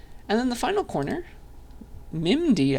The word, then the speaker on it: MIMD: then the final corner mimd I guess is how you might say it uh that stands for